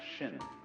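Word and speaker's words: 心: please pacify my mind in chinese mind is this word pronounced shin and shin is here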